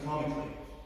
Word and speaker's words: comically: And one thing to note here guys, this a over here is usually silent. We don't say comical, right? We say comically, we say dramatically, and we say strategically. So, whenever you're saying them, we drop the sound of the but always add it to the word.